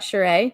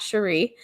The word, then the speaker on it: Sheree: but whatever let's kick it off we've got sheree not cherie spelled the same different different tv show different pronunciation being on her podca on her daughter's